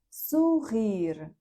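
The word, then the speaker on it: sugerir: І останнє в цьому ефірі слово у нас це сугир. Подвійне р читається так, як р. Е, сугир. О, не наголошена.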